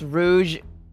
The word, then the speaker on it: Rouge: as a color um it shouldn't be pronounced as Rook it's Rouge oh no I've